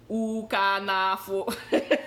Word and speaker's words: Ukannafo: le beat de la semaine s'appelle La manière dont je l'ai lu, moi, c'est Ukanafo. Ukanafo. Ukanafo, but you can afford.